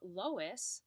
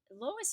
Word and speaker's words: loess: of what is called loess. And yes, it is pronounced like the woman's name, even though it's not spelled that way.